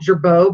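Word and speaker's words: Girbaud: Yeah, but this is actually, I don't remember how to pronounce the brand. Is it Gerbeau? Yeah, Gerbeau.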